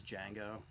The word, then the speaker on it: Django: Woody Harlson's name is Django? Yes, it is. As in Yeah, I don't know. As in Star Wars Django. Yes. With no D. The D is silent.